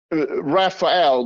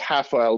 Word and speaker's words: Rafael: what's his name uh rapael but he's pronounced hael because from Brazil so Rafael morera so